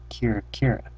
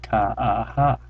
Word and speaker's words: Kira-Kira: me my first word Kira Kira I pronounced think kaaha but she knew what it meant kir